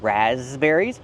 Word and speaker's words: raspberries: What about the P? The P is silent. We do not say raspberries. It's ras. Make the voice with a Z.